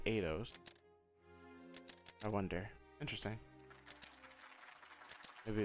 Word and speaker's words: Eidos: I've been pronouncing the Idios, but he said Eidos.